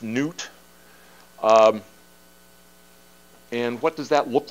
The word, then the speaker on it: Nut: What you have here is the sky goddess, and her name is spelled N-U-T, and I believe it's pronounced Newt.